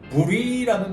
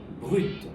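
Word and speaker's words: brut: B-R-U-T라고 되어 있는데 이걸 부리라고 부르는데 어떻습니까, 선생님? 요거 같은 경우에도 이제 뭐 브리라고 불리는 이유가 프랑스어는 기본적으로 자음이 단어 끝에 오게 되면은 발음을 안 해줍니다. 근데 요거 같은 경우에는 또 예외적으로 이제 브루이트 하면 살짝 그 T 발음을 내주는 게 올바른 발음입니다.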